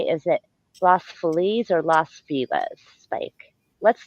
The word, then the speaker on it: Los Feliz: Well, we all say Los Feliz, but if you are an old school Latino, you'll say no, it's Los Feliz.